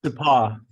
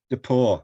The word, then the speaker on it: DePauw: Have I pronounced your institution's name correctly, Jeff? DePauw. DePauw, I beg your pardon.